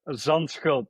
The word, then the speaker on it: Zandschulp: It's Zandschulp, probably really hard to pronounce for, and he Zandschulp. yeah, All right, almost. Zandschulp. So Botic, I'm sorry for doing this to your name, but Peter did give the right pronunciation here.